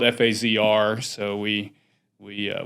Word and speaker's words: FAZR: names and it's spelled f a ZR so we we uh we took the sound pronunciation of phaser and shortened it to that F azr but that was the